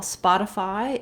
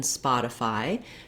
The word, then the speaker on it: Spotify: of all the for the stressed syllable is a syllable spot and it's just like the word spot except that um we